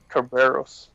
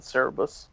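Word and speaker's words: Cerberus: now I know I did I don't I pronounce it Kerberos yeah I don't come pronounce it Cerebus only because of some show movie I saw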